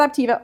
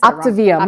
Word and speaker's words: Optavia: So, so let's let's talk back to like like So, so now you're with with Optiva. How you say it again? I said Optivia.